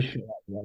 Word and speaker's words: Schilaty: Yes. Schilaty. Sorry. Schilaty. I know how to say it.